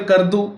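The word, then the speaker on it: Skardu: Near Kardu, S is silent in it.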